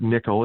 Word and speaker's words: N1QL: is our query language we call it nickel it's spelled n1ql but it's support nickel